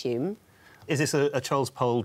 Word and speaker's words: Home: Although it's pronounced Hume. Do you know why it's pronounced Hume?